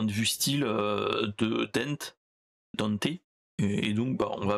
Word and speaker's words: Dante: ce qu'ils en font ils disent tous Danté mais moi je prononce Dante c'est beaucoup plus Simp c'est beaucoup plus simple et en plus euh dans le dans le jeu dans le jeu DMC et dans et dans l'animé ils disent Dante et non dé et c'est d il y a pas il y a pas de E à la fin de son prénom ouais mais c'est le